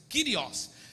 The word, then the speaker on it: Kyrios: Escrito no grego Kurios, mas pronuncia-se Kyrios.